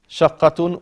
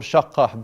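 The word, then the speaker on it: شقة: Shaqqatun or shaqqah, because this start change in a half you stop. Shaqqah. But its origin status is shaqqatun.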